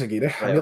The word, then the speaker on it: Aguirre: Is it Aguirre? Is that how you pronounce it? He's Aguirre.